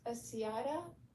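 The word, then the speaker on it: السيارة: the car is pronounced as-siyara because As-sayab, yeah.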